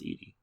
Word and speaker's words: Edie: Oh, I thought it was Eddie Falco. I've heard it's pronounced Edie.